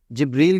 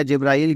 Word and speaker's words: جبریل: فرشتے ہیں نا جبریل علیہ السلام، جبریل کہہ لیں یا جبرائیل کہہ لیں، دونوں صحیح ہے تلفظ.